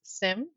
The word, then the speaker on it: SIEM: I do know that if you Google how do you pronounce SIEM, it says SIM.